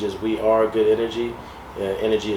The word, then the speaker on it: NRGY: Energy is spelled NRGY.